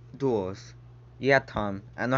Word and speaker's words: duels: duo just came out not jewels duels yeah tom i know